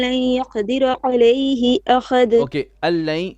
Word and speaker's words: أن لن: Allain. The noon on the an we do not pronounce. This drops. We say allain, and then the second one is idgham with ghunna.